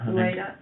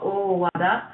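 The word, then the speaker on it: Owada: His name is pronounced as... Ueda. No, Uwada.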